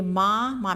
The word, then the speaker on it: में: फिर ये माँ में एक ही मात्रा है और अंग की बिंदी लगी हुई है, तो इसको कैसे बोलेंगे? हल्का नासिका से इसका उच्चारण होगा, में।